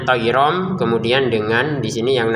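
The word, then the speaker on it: طيرا: Nah, tayronnya bertemu ba, kita bacanya tayrom, kemudian dengan di sini yang namanya samar.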